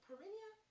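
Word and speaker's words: Perrineau: Her father is Harold, I'm saying the name wrong, and you guys, Perinia? It's Perrinea. And he actually played, I think his name was Harold too, in Best Man.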